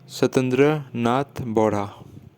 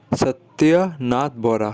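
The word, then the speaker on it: সত্যনাথ বৰা: Answer is सत्येंद्र नाथ बोरा, सत्येंद्र नाथ बोरा, sorry, सत्यनाथ बोरा, ठीक है, सत्यनाथ बोरा original pronunciation होगा, ठीक है।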